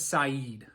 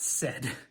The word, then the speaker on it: Saeed: His name is Saeed, not Said. So that is the correct pronunciation.